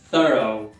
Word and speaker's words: thorough: Thorough. É mais fácil do que parece, porque o GH no final corta, não pronuncia, só tem dois sons aqui, que é o thorough. Capricha no TH no início.